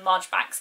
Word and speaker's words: Marjoribanks: And I'm also, by the time this video goes up, will have hopefully read Miss Marjoribanks / Miss Marchbanks. It's written Marjoribanks, apparently it's pronounced Marchbanks, which Kate and I are currently hosting a read-along of.